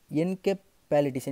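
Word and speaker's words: encephalitis: நான் சரியாக ப்ரொனவுன்ஸ் பண்ண நினைக்கிறேன், இஎன்சிஇ பிஹெச்சி எல்ஐடிஐஎஸ் என்கெப்பாலிட்டிஸ் என்கெப்பாலிட்டிஸ் அப்படின்ற மாதிரி நம்ம வந்து ப்ரொனவுன்ஸ் பண்ணிக்கலாம்.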